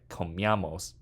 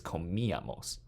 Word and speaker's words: comíamos: Accent mark on the I, because we want to split the I up into two different syllables. We don't want it to be said like comíamos, it's comíamos.